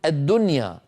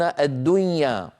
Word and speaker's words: الدنيا: يعني العرب تقول الدنيا، الدنيا مظهرة النون، ولا يقولون الدنيا، مع أنه قد اجتمع في النطق نون ساكنة بعدها ياء.